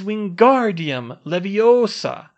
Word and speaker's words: Wingardium Leviosa: down by the wrist Ron you're saying it wrong she snapped and you're going to put someone's eye out like mine it's Wingardium Leviosa you need to swish from your wrist and make the GAR nice and long while you're